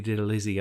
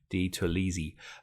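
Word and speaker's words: DiTerlizzi: You had this fantastic Doni Didalisi art. I think I've said that name wrong. Di Tolisi.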